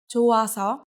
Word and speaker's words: 좋아서: Although 이응 is just a placeholder when it meets 히읗, the sound of 히읗 just goes away. So you can read it as 좋아서 without H sound.